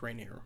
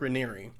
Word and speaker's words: Raniere: It's spelled like Rainier, but it's not pronounced Rainier. Mark Raniere.